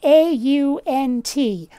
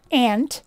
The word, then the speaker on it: aunt: Okay, so the word is spelled A-U-N-T. Aunt. Not ant. Where'd that U go? It's not ant.